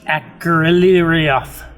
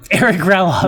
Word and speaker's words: Akrelioth: And the great fire dragon, Akrelioth. Erikraloth. I've heard so many people mispronounce Akrelioth. Eric Raloff.